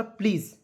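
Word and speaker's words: please: के रूप में और एस ई को उच्चारण जो है ज के रूप में करेंगे तो क्या हो जाएगा ब्रदर प्लीज यानी कि भाई ब्रदर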